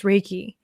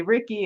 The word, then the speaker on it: reiki: good yes and also with a name like ricky everybody gets mixed up a lot of time they go to say ricky and they say reiki and